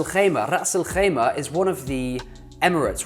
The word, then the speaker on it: Ras al-Khaimah: Now, Ras al-Khaimah, most people call it Ras al-Khaimah, and I don't blame you because the Kha is hard to do, the Ras is not something which comes naturally.